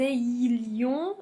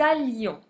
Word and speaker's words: allions: On ne dit pas que nous ayions non que nous allions. Donc le i disparaît.